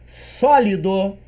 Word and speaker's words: sólido: Percebam bem, é um timbre aberto, né? Então é só, não é so. Se fosse so seria circunflexo, mas como é só a acento agudo, beleza?